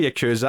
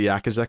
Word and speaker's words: Yakuza: in the Yakuza right I always say Yakuza I'm trying to train myself to say Yakuza cuz it's actually the that's the actual pronunciation I think it is